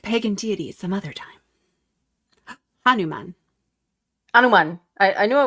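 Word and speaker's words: Hanuman: Anuman.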